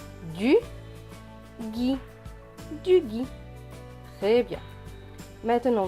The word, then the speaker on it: gui: Plus loin, G et U, G, avec le I, cela donne gui. Donc ce mot se prononce gui. Du gui.